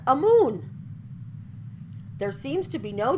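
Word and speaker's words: Amun: n or am un the last being pronounced in recent years as a moon there seems to be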